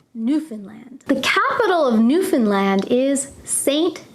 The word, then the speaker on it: Newfoundland: Be careful though, many people who are not Canadian try to pronounce this word as Newfoundland. We do not pronounce it that way. We say Newfoundland, Newfoundland.